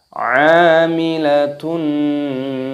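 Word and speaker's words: عاملة: Amilatun nasibah. Amilatun nasibah. Amilatun nasibah. Huruf A-nya dipanjangkan. Di sini dipanjangkan, ada tanda alifnya, dan di sini tak marbutohnya terdapat dhammah tanwin yang bertemu dengan huruf nun.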